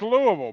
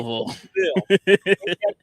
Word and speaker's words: Louisville: You gotta say it like a native. Louisville. Louisville. Everybody Louisville. It's like everybody. It's like saying Nolans. It's like Nolans. It's actually Louisville. King Louis, Louisville.